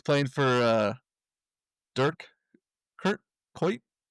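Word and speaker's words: Kuyt: minutes and he's playing for uh Durk Kurt Kite. How do you say his name? Kite.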